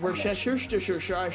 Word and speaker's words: Worcestershire: And on that note, it is pronounced Worcestershire.